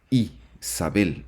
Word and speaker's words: Jezabel: ahí tenemos en hebreo el nombre de Jezabel que se pronuncia como Isabel Isabel que tendría el siguiente